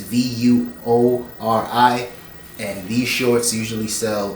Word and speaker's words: Vuori: I think it's pronounced Vori, but it's Vuori, and these shorts usually sell brand new, they're like $50.